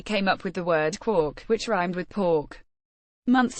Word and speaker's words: quark: all beside the mark even though Joyce intended Quark to rhyme with markh and bark Gman liked the spelling